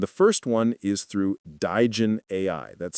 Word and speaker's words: Digen AI: that hassle, and the first one is through Digen AI. That's spelled D-I-G-E-N AI, Digen AI.